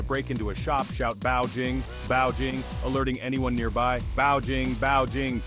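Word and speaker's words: 报警: someone trying to break into a shop shout bow Jing bow Jing alerting anyone nearby bing bing keep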